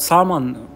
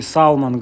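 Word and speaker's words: salmon: что-то типа форели салман вообще говорят сам он очень часто но я такой по-русски салман говорю хотя л надо проглатывать кто произносишь это лосось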